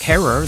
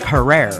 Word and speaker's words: Herer: So I knew how he pronounced his own last name. Jack Herer is here with the book. But I've noticed that most people mispronounce it as Jack Herer.